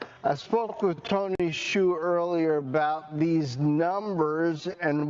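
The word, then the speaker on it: Xu: He said, if I come on air and you mispronounce my name, you ask if it's Zoo, or Shu. Is it Tony Zoo or is it Tony Shu?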